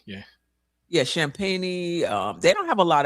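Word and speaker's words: Champagnie: How do you pronounce his name? Champagne, yeah. Yeah, Champagne.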